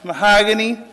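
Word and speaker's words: Mohagani: is mahogany magnetic m-o-h-a-g-a-n-i last name m-a-g-n-e-t-e-k pronounced mahogany magnetic and i brought with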